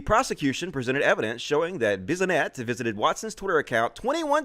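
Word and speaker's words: Bissonnette: His Twitter account was among a handful of far-right accounts frequented by Alexander Bisonette. That's how you pronounce it.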